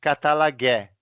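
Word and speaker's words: καταλλαγή: A palavra grega para reconciliação é essa daí que você está vendo, katalagé. Essa é a pronúncia, tá bom?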